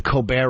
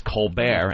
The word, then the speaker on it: Colbert: It's hysterical that his name is Colbert and it's spelled Colbert. And it's the Colbert Report.